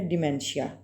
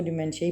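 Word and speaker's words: dementia: है इसको बीमारी का नाम है डाइमेंशन इसको डिमेंशिया ही प्रोनाउंस करेंगे ठीक है अच्छा नेक्स्ट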